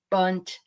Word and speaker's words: bundt: Margie sitting on a bundt cake, and it said, "Like Elf on the Shelf. What is this?" And I looked at it, and finally I said, "Okay, it rhymes with bunt."